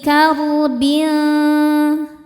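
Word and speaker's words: كَرْبٍ: Wamin kulli karbin kar. Ro sukun dibaca secara tafkhim karena baris sebelumnya fathah. Cara bacanya ro dibaca dengan tebal.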